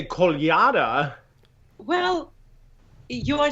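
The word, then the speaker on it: Kolyada: so I always say call yada well you are saying it correctly but if you put the stress on the last syllable you'll pronounce it right call you da right called your dad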